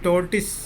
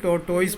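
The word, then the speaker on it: tortoise: यह टोटिस, लोग टोटोइस पढ़ता है, इंग्लिश में इसका प्रोनाउंसिएशन टोटिस है। सेकंड वाला वो साइलेंट है।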